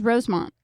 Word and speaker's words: Rosemont: I added an extra syllable in there, Rosemont. I thought it was Rosemont. It is Rosemont.